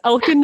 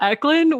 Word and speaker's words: Elcan: It's elcan, not Eklund, which is the most convoluted handle ever.